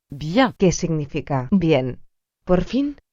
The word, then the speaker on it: bien: Las letras I, E, N se pronuncia. bien, Por ejemplo, bien, que significa bien.